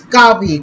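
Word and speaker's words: Kaveh: be coming out but Kevin is pretty much confirmed oh wait why am I still calling him Kevin it's it's coffee coffee sorry I always pronounce his name wrong okay anyway let's get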